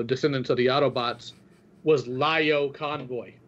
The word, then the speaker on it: Lio: aqua teen hunger force your screen name is pronounced lyo yes it's the reason pronounced lyo is because my screen name comes from oddly